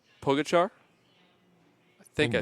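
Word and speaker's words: Pogačar: Actually, it's it's like Donich. It's spelled with the same C. So, Pogachar.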